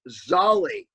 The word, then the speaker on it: Zal: say that sally novansky i can never say his name right yeah it's actually pronounced zolly okay okay henry dilts